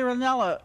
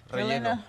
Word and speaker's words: relleno: Right here on the combination sheet, there's thirty options, like, you could get a chalupa and chilli renello, relleno... - Relleno. Yes, you said it right.